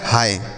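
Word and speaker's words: hi: हम क्या पढ़ते हैं इसे हम पढ़ते हैं ही एच आई ही ही नहीं पढ़ेंगे बच्चों यह बिल्कुल गलत उच्चारण होगा इसे ही नहीं पढ़ते हैं इसे पढ़ा जाता है हाय क्या पढ़ते हैं बच्चों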